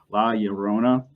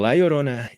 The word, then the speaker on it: La Llorona: But La Llorona, did I get that right? Yep. All right. So Jorge, go ahead and tell us your story. Well, La Llorona is a Mexican legend that it goes back hundreds of years.